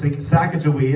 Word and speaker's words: Sacagawea: I'm anti-like I'm going to give the proper pronunciation even though we haven't heard it in like 200 years. Anyways, Sacagawea, it's on the $1 coin.